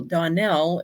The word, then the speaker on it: Donnell: I tell people Donnell is pronounced like Russell, so it's Donnell.